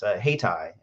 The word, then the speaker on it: Hayti: Hightower mentioned, is Haytai. It's spelled Hayti.